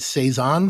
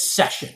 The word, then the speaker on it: Saison: So, you went to the Boston and I'm going to try to say it right, Saison Festival.